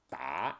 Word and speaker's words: 打: Last, there was a specialthing about 打 which is different sound called 打 it's a 多音字多音字 polyphone 打 means a dozen it's